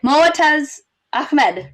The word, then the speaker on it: Moataz Ahmed: Okay, Moataz Ahmed, right?